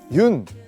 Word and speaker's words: 윤: 여기 보시면 흙이 있는데요 많은 분들이 아마 그 윤 이제 윤이라고 읽거든요 연이라고 읽으실 수도 있고 뭐 여러가지 방법으로 읽을 수 있는데 그 윤형근 화백님의 성입니다 그래서 외국에서는 윤이라고 많이 부르기 때문에 제가 그 윤이라는 그